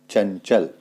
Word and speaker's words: चंचल: देखते हैं क्या है चंचल चंचल च से पहले आपके पास में अनुस्वार आया है तो इसलिए चौ का जो पंचम अक्षर है उसका प्रयोग यहां पे किया जाएगा चंचल आगे देखें पंजाब ज